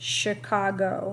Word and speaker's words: Chicago: actually the University of Chicago this word right here is pronounced Chicago remember I said that CH usually says the Chuck sound but some of our words come from French and so that CH